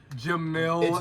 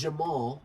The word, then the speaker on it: Jamal: They can't even get his name. Jamil. It's Jamal.